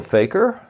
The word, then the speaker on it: fakir: three are you a faker Faker is a Muslim in Hindi derived word and it's pronounced about the same as is the word Faker f a k r